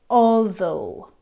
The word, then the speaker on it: although: The next sound is in more like an O sound in the words like thorough, although.